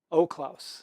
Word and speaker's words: Oelklaus: O'Claus. That's correct. Love it. Okay. O'Claus. It's not the German pronunciation, but it's the one that most of us can deal with.